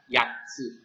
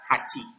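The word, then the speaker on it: 八: Ya, sekali lagi untuk kanji angka 8 itu dibacanya yatsu. Nah, untuk ongyominya ini dibaca hachi.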